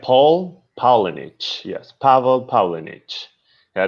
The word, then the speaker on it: Pavel Paulinich: So my name is Pavel Paulinich. It's like Paul Paulinich.